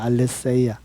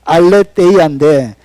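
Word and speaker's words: ἀλήθεια: 이 진리라는 이 헬라 단어가 알레세이아입니다. 알레세이아. 뭐 데이아라고 읽기도 하는데 알레세이아. 저는 세자로 읽기를 더 좋아합니다. 자, 알레데이아인데 이것은 진리라는 단어예요.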